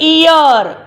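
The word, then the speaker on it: ear: और देखिए यहाँ पे जो ए है वो साइलेंट है।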